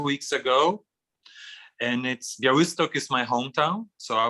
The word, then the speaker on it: Białystok: And then there is this article in a blog magazine about the situation in Białystok, or how do you pronounce it? Białystok.